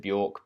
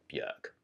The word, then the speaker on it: Björk: from the woman herself apparently she doesn't mind if you pronounce it Bjork but the proper pronunciation of her name is yuk Rai was a jerk